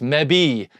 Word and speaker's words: mebi: So it's me-bi, kibi, mebi, gibby, tebi, pebi, egsby, zebi, and yabi. That's how you pronounce them.